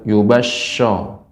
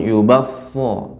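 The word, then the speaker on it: يُبَصَّرُونَهُمْ: bukan huruf syin ya Jadi bukan yubaso namun yubasho lebih ee makhraj tempat keluarnya Shad dan Sin itu sama bedanya Shad dia tebal maka pengucapannyaau yubum lebih berat ya lebih terasa kayak berat begitu e sinnya SH ya bukan Sin yubahum yubasahum sekali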